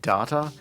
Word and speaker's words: Data: It is pronounced Data. There are still people who say data, and people who say data, and then there's everyone else who was transfixed by Brent Spiner's performance.